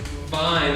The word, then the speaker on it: vine: yeah and then fine vine is like this like this but the uh the f and the v f is like the no voice yeah and v has the voice so if you touch